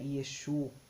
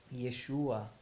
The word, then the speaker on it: Yeshua: na da letra Yeshua porque não é Exu é Yeshua né que que se pronuncia mas Yeshua né com